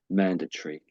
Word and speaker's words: mandatory: Um, so the Americans might might say the way that you said it, something like the way you said it, I would say. So you do hear occasionally people say the way you just said it, but most Brits, 99% of Brits will say mandatory.